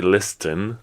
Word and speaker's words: listen: listen you don't say listen like you don't pronounce the T at all but you you write